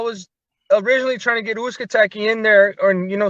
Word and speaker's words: Uzcategui: How you pronounce his last name? Uzcategui.